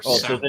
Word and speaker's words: Samhain: This was when he was post Misfits, pre Danzig, when he was in Samhain, or so then if you want to pronounce it correctly.